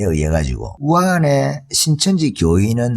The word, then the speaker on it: 우한: 그러니까 읽으면 우리식으로 읽으면 무한인데 중국식 발음은 후안, 우한 이렇게 되나 봐요.